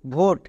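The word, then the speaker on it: vote: এবার তাহলে উচ্চারণ করি ভি এর জন্য ভো ও এর জন্য এক্ষুনি পেলাম ওকার তার মানে ভয়ে ওকার নেক্সট টি টি এর জন্য কি হয় টো তাহলে ভয়ে ওকার আর টো ভোট শেষে ই আছে ই সাইলেন্ট এর উচ্চারণ করার দরকার নেই তাহলে আশা করছি বুঝতে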